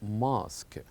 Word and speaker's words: mosque: is a Mosk and notice here that here we have an exception that this word may ends with u e but they are kept silent as we pronounce this word as mosque very good so uh